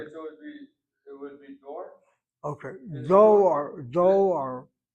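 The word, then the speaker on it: דור: The word that Baruch used just moments ago is the word door.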